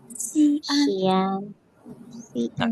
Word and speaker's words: 西安: Let's Over if you guys want to try pronouncing these cities. So first one's Beijing. 北京、 Shanghai 上海、 and Xi'an. 西安、西安、西安、 Nice.